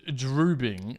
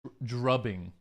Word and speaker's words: drubbing: But I feel like if it's a head beating, it's probably more like drubbing, like a based on the drubbing. British pronunciation, please. Drubbing. It's still drubbing. Drubbing kind of gives the it's a bit like clubbing.